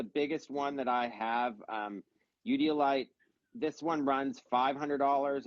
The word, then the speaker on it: eudialyte: Udiolite. Udiolite, yeah.